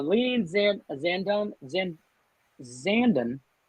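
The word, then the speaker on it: Zandon: in a zandum zen zanden like brandon that's how i learned how to pronounce it stand in or messier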